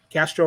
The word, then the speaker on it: Castro: Castro rhymes with Astros.